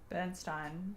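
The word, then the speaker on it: Berenstain: Bernstein bears rhymes with wine.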